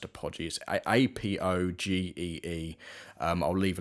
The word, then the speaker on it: Apogee: company called apogee i think i think it's pronounced apogee a-p-o-g-e-e um i'll leave a link in link